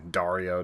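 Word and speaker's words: Daario: books you can't ever figure out how to pronounce it so yeah Dario Diario but he uh you know him and uh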